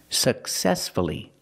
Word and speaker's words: successfully: successfully for many years successfully successfully the stress is on the second syllable so we pronounce the U uhuh successfully let's practice